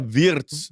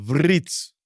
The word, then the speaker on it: Wirtz: 1, dan juga Florian Wirtz dari Bundesliga. Menurut kalian siapa nih pemain-pemain dari luar Premier League ini yang akan lebih excel? Apakah Gyökeres, Sesko, Gittens, Cherki, atau Fritz? Kalau gue namanya Wirtz, bukan Fritz.